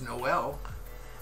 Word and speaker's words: Noel: Change the emphasis. It's Noel. Noel. It's not Noel. It's Noel. I know. Noel. Yeah. Or Noel. I don't know how to pronounce that E. Noel is correct.